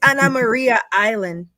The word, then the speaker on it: Anna Maria Island: how did you pronounce it Dr you you pronounce it it's Anna Maria Island I Ain heard no Anna Maria Island that's